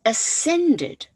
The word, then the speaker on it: ascended: Kilian Jornet ascended, so silent C there, ascended, that means going up,